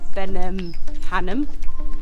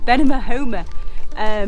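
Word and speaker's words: Benamahoma: So yeah, on our way to Grazalema, we've just sort of passed through the little town of Benimahoma. That's not how you say it. Benimahoma.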